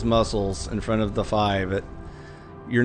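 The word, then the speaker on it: Fii: So anyways, F-I-I is how you pronounce it. It's just the Greek letter Phi. It's not P-high. It's not iffy. It's not fi. It's not P. It's just phi.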